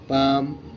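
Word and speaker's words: palm: টি এল K talk P এ এল এম পাম guys মানে দোয়া আছে সবাই পড়ে যাবা কোন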